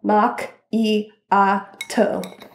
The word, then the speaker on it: macchiato: duncan i love they have like how to pronounce it's caramel mac e a toe and the word espresso means forced out in